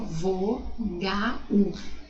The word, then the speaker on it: vogal: E vogal, eu tenho 5 letras e 5 fonemas, ó, vo-ga-u. Na verdade eu tenho o som do U e não do L, mas se escreve com L, tá?